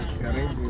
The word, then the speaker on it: Karibu: Karibu, yes.